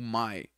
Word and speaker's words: my: Aqui você pode pronunciar de duas maneiras. O my. O correto, formalmente, é my. Mas muitas vezes você vai ouvir, por exemplo, ma.